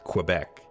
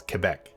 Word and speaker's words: Quebec: ever pronounced it um it is absolutely not pronounced quebec it is quebec more like a k than the the q u so keep that in